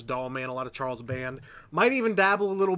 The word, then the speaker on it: Charles Band: A lot of Charles Band. I did say it right. Danielle, I said it right. Charles Band.